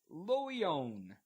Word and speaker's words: Loyon: This is Le Loyon. L-E. Perfect pronunciation.